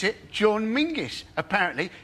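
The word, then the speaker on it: Menzies: should pronounce it John mingis apparently it's to do with a defunct Scottish letter Zog you couldn't make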